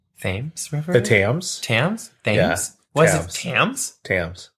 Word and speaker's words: Thames: I've always seen um commercials for like the themes th River the Tams Tams th what Tams Tams what the Tams